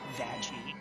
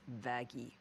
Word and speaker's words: Vaggie: Vaggie. Actually, it's pronounced Vaggy.